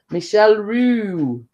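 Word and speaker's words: Michel Roux: So yeah, and then obviously I made it's pronounced Michelle Michelle Roux.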